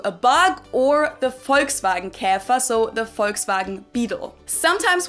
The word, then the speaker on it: Käfer: Some examples in German for this would be gähnen, to yawn, gähnen, or Käfer, which either refers to a bug or the Volkswagen Käfer, so the Volkswagen Beetle.